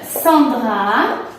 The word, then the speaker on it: Sandra: Tu vas a la fête de Sandra. Prononciation, point d'interrogation. Prononciation. Tu vas a la fête de sans sonido nasal, dra.